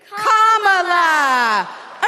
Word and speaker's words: Kamala: do you pronounce it first you say comma like a common sentence then you say la like la la la la la put it together and it's one 2 three comma all right so let's practice